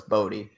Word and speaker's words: Bodhi: Yeah, I think that Bodhi Lee, Photon Warrior, I think his name is spelled like Body, even though it's Bodhi.